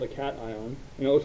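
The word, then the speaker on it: cation: ion so positively charged particle is called a Caton and it looks like cashion but it's pronounced Caton and then all non-metals will gain electrons oopsies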